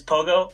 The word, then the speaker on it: Pogo: Pog Zero. Pog 0. Is it the number 0? Yeah. Oh, okay. I think that's Pogo. Is that how you say it? SoCal player. Damn it. Then yeah, you do know. With. So it's Pogo.